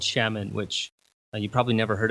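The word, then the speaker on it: Xiamen: was that I lived in this city called Shaman which you probably never heard of it and probably can't pronounce it or look it up on a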